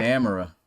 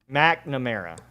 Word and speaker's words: McNamara: supposed to say it I've been calling it camera oh no you were saying I I forget I was saying nickname no it's Cade McNamara McNamara okay McNamara is how you say his